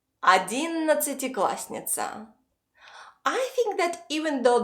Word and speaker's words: одиннадцатиклассница: And instead of a double s, we pronounce a single s. Because when you speak fast, you don't have time to pronounce clearly every single letter.